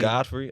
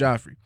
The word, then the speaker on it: Joffrey: Game of Thrones jrey that's how I pronounced the name Godfrey I thought it was Godfrey I thought it was J it might it might be I'm pretty sure it's Joffrey either either